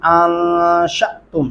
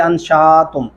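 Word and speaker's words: أنشأتم: अअंतुम अंशअतुम, यहाँ पे बहुत ज्यादा ये गलती की जाती है, अंशातुम। अलीफ के ऊपर जब भी जज़म आएगी वो झटके से पढ़ा जाएगा।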